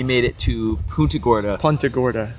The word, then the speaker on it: Punta Gorda: Punta Gorda. Punta Gorda. Yeah, be a local. You gotta pronounce it right.